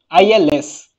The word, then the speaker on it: ils: is l all right so if you if you can observe if you can observe the pronunciation of this and this is same all right and this and this is same even though there is an extra s there is an extra s all right there is an extra s here but we never pronounce this extra s okay now whenever we